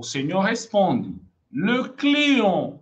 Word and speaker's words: client: Mas olha como que você vai falar aqui. Client, não é cliente? Não, esse T você não vai ler. E com N você fala on.